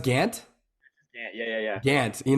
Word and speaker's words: Gant: before and I was like it's it's not Grant is it pronounced Gantt yeah yeah yeah dance you know what I guess because there's a lot of Grants out there so I apologize it is Gantt without the r absolutely yeah for sure so